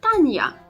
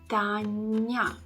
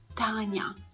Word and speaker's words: Tanya: you see it's not Tanya because the your sound should not be that prominent in the young letter that is following the soft consonant so it should be pronounced a bit softer Tanya Tanya okay our next